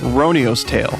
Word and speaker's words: Roniu's Tale: podcast chat james confirmed the game name is pronounced ronio's tale we're here to talk about ronio's tale a